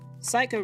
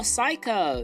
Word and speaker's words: psycho: Oh, psycho. Yeah. Yeah. Psycho. Silent peas.